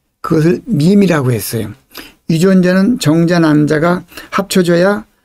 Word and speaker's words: meme: 밈이라는 단어는 MEME라고 하는데요. 이거를 매매라고 읽지 않고 밈이라고 있습니다.